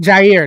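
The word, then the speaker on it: Jaire: Oh, the Jair. Packers. I want Jair. That's how you say it. I thought it was an A in front of it. But like Jair, I want to know his tendencies too.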